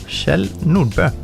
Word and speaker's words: Kjell Nordbø: Bø, so it's Kjell Nordbø. Kjell Nordbø, because Norwegian, I guess. Yes, this confusing O, with the thing in the middle.